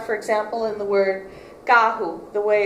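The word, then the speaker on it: carro: r in Portugal versus in Brazil where it sounds more like an h and the word muler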